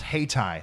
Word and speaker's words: Hayti: It's pronounced Hayti.